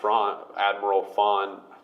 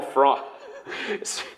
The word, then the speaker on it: Thrawn: Which and maybe keeping some stuff for the Rebels show, for bringing Admiral Thrawn. It's a friggin' Canadian accent, can't pronounce TH. Admiral Thrawn.